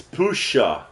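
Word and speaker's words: puszcza: s z c Za a how would you pronounce it it's Pusha the youu O and then the SZ and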